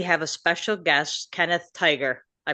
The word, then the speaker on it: Tigar: Today we have a special guest, Kenneth Tiger. I pronounced that correctly. You said right like Tiger, just like the animal.